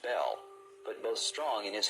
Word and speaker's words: Bel: mackie's encyclopedia freemasonry bell spelled b-e-l is usually pronounced bell but both strong in his hebrew dictionary and fairy bin in his prefer to say baal the word is probably